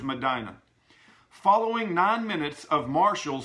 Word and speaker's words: Medina: Madonna North Dakota now I've always wondered whether you call it Madonna or Medina but scotf all confirmed to me the proper pronunciation is Medina following nine minutes of